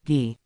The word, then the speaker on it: Guy: That earned him his name Guy, pronounced Gi.